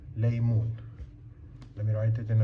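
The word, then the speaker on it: ليمون: And here, you know the na ma na, sorry, la ya meem wow, noon. That's laymoon.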